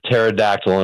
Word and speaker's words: pterodactyl: You're the pterodactyl in my life, Dave. Anytime you need to kill 15 minutes, give me a call. The P is silent, my friend.